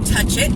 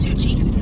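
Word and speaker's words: Touchet: this is the Big Town of Tui or touch it as a lot of people around here call it it's t o u c h e t budget um but it's pronounced toi um but this is I mean this is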